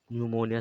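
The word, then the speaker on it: pneumonia: पी भी silent होता है जब शुरुआत में होता, इसे हम साइकोलॉजी, जैसे हम न्यूमोनिया समझ रहे हैं, तो कुछ ये साइलेंट्स होते हैं।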